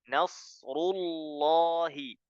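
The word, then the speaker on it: نصر الله: dia tebal n kemudian perlu diperhatikan juga ketika kita membaca laul jalalah tidak boleh monyong ya karena meskipun sebelumnya itu huruf ro berharakatah kita harus balik mengucapkanul Jalal jadi membacanya gak boleh R ya mony bibirnyaah yang betul menyungkan bibirnya ketika membaca ro kemudian balik ru ru Rul rullahi nasrullahi jelas ya nasrullahi ya kemudian selanjutnya pada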